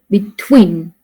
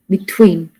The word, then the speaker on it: between: not the word arest and between we stress on the second syllable be between between okay so another word is